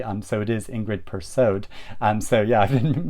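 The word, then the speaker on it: Persaud: way of uh ingrid perso but now you pronounce the d um so it is ingrid pursued um so yeah i've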